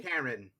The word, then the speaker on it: Ciaran: How do you pronounce that? Ciaran? Ciaran? Ciaran? Karen. Karen. Karen? Yes. Karen.